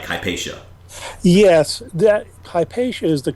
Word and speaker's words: Hypatia: HIPAA and then other ones seem to be hypatia tomato tomato whatever you want to say your official pronunciation sounds like hpaa yes that hypa is the common English pronunciation